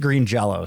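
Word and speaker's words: Green Jellÿ: Which does make it pronounced Green Jello still.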